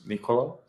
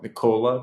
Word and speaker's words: Nikola: would you mind like, saying my name is Nikola, not Nikola, because I'm not a British woman. I am a Serbian man, hence the style is that.